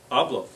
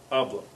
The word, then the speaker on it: hablo: Hablo. Yep. Hablo. Because it ends in a vowel, so it's going to be on the, not on the last syllable.